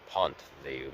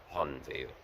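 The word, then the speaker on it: Pont-Viau: northern and northeastern end of the city, I pronounced it Pont-Veilleux, but apparently when I had a conversation with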